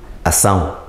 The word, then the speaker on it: acção: é Batista temos ação Nós escrevemos acção mas a pronúncia é ação Então vamos nosso exemplar